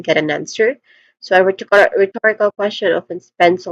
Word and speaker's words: rhetorical: This is again rhetorical. Stress syllable is on the second syllable to again this is rhetorical.